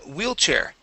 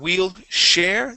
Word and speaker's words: wheelchair: to um wheelchair okay instead of wheel share the word is wheelchair wheelchair okay all right let's talk about that CH sound okay uh you're saying whe share pronouncing an a CH or sorry an sh sound okay the CH is similar but it is a a stronger sound okay it's a puff of air we say CH okay so let's try